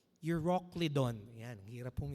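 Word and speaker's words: Euroclydon: It says there but no long after a attemptious head wind arose called Uroclidon. Yan. Ang hirap pong i-pronounce ano. So ako na lang po magpo-pronounce para sa inyo. Euroclidon.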